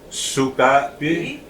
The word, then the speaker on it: sukapi: It was just that inflection. No, actually, it would be sukapi, sikapi. Sika. Sikapi means dirty. Sukapi means good.